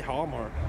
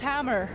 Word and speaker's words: Hamar: How do you say Hamar? Like, so this is the main city? It's Hamar. Yeah, Hamar. Oh, okay. Or Hamar. Hamar. Yeah, Hamar. Hamar.